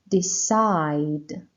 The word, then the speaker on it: decide: for verbs the side decide decide the stress on side leave leave no stress